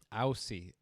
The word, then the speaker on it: Aussie: Aussie. They pronounce it Aussie.